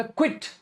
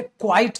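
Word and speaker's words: quite: मैंने बोला था बेटा क्वाइट और इसकी spelling Q आई क्यू यू आई टी ई होती है। क्यू यू आई टी ई होती है। क्वाइट आई एम क्वाइट confused. क्वाइट। सो क्विट नहीं होता।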